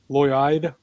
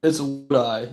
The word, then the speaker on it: Lodi: he's a senior from, is it Lloyd, Ohio? Is that how you say it? Lodi? It's Lodi, yes.